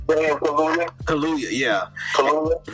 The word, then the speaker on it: Kaluuya: I never pronounce it right. Daniel Kaluuya.